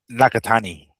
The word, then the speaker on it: Nakatani: Nakatani. Nakatani.